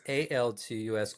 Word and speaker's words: Altus: So it's ALTUS, Altus Rehab. That's why I'm saying it wrong. I've got it written down wrong. It's okay. A lot of people do. And then so it's ALTUS. Yes.